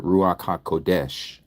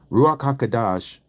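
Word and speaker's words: Ruach HaKodesh: So if you hear someone say ruach ha kadash okay you may hear people pronounce it ruaka kodesh ruak haka kadash ruach means spirit ha means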